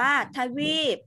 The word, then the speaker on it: ทวีป: ต่อ ไป นะ คะ ทวีป อ่าน ว่า ทวีป นี่ มา วาด เท่า